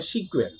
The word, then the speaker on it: SQL: देखिए, एसक्यूएल stand for structured query language, everyone no. कुछ लोग प्रोनाउंस करते हैं सीक्वेल, वो भी सही है, नो प्रॉब्लम।